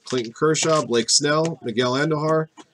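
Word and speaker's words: Andújar: field Bryce Harper Clayton Kershaw Blake's no Miguel Andujar pronounced Interior Bryce Harper Noah Naylor Francisco Lindor Cowan Smith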